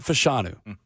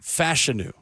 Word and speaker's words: Fashanu: over the weekend that we have been mispronouncing the name of a Titans offensive line Prospect all draft season did you guys see this missed it well Olu fashanu it is not fashanu Olu fashanu Robert Walsh looks like